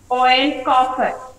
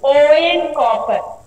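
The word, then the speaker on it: Eoin Colfer: But the pronunciation will be O N, O E N, O N copper. Okay, L will be silent here. It is about copper. C-O-F-E-R, L silent. Here he will pronounce O-W, O-N copper.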